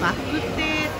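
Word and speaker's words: 肉骨茶: で、肉コツチャって書いてるのは、これはバクテーと発音しまして、でポー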